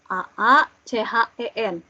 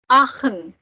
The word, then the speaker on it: Aachen: AACHEN. Ini dibacanya Aachen. Aachen. Iya. CH-nya tadi kan kayak KH. Aachen.